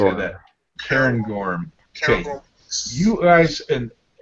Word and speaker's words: Cairngorm: Cairngorm.